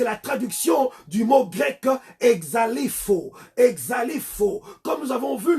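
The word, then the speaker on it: ἐξαλείφω: Le verbe effacer qui est ici, c'est la traduction du mot grec exalifo. Exalifo. Comme nous avons vu le dimanche d'avant, exalifo. Exalifo s'écrit E-X-A-L-E-I-P-H-O.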